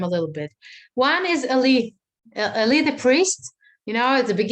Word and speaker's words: Eli: little bit one is ali ali the priest you know at the beginning of the book of samuel uh elite that's how you say it in english yeah ellie ellie okay so ellie the priest